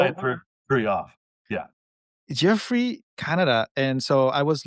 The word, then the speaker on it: Geoffrey: I went Jeffrey Oh, Jeffrey Canada, yeah, Jeffrey. There you go. Okay, it's that the reading was different.